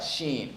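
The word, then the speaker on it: شين: Sheen.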